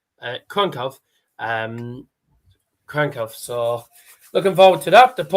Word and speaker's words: Kraków: Wonderful city of Krakow, and it's not people call it Krakow. It's the W is pronounced V. The A has actually got the accent, so it's Krakow.